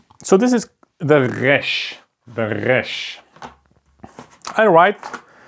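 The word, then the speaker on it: ריש: And this is exactly the R sound. So this is how you can learn to pronounce it. R, resh.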